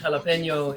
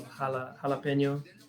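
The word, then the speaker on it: jalapeño: Yeah, the J in Spanish is like an H sound, so jalapeno or jalapeno.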